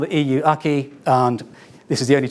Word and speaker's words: acquis: Um there's a word here that um acquis which the lawyers always pronounce aki.